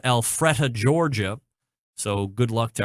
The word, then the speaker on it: Alpharetta: The next National Pro Barbecue Tour event will take place this coming weekend in, I believe it's pronounced Alpharetta, Georgia.